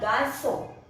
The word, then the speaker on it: garçon: Petit means small garçon. G-A-R-C-O-N. This C we use this. This is not as cedille. When we use C and with this cedille, it is pronounced as sa.